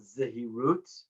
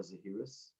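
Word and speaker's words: זהירות: to discuss in hebrew it's called zahirut or zahirus in ashkenazic pronunciation and the best translation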